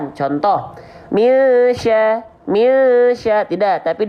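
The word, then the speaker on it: مِنْ شَرِّ: Misya. Jadi ketika kita lafalkan mi, itu sambil siap-siap melafalkan huruf berikutnya, itu shin.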